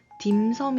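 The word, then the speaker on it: 點心: 많이 들어보셨을 거에요 김성 중국어 발음으로는 da 신 dance 라고 발음을 하고 홍콩식 빨 그러니까 광동어 발음이 되겠죠 이 발음은 딤섬 이라고 발음을 해요 자의 김 섬은 우리가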